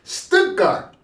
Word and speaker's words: Stuttgart: He said Stuttgart.